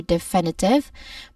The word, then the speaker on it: definitive: There are four syllables for definitive. The main stress is the second syllable fin.